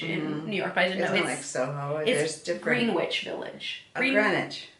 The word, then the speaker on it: Greenwich: New York Greenwich Village Greenwich Greenwich but it's called it's spelled green witch like Greenwich Greenwich Village